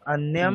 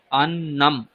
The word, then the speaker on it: অন্নম: নরেন্দ্রবাবু আপনিও অন্যম অন্যম বলছেন, আসলে কিন্তু শব্দটা হচ্ছে অন্নম। ঠিক আছে, অন্নম, হ্যাঁ অন্যম নয়। অন্নম, অন্য জফলা আলাদা নয়। শব্দ আর অন্য আলাদা শব্দ। হ্যাঁ, ঠিক আছে, অন্নম। জফলা নয়। হ্যাঁ, অন্নম। অন্নম, অন্যম নয় কিন্তু।